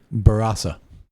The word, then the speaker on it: Barossa: They were kind enough to correct us actually on our pronunciation, which we should actually be saying Barossa. That is actually the correct way to say that.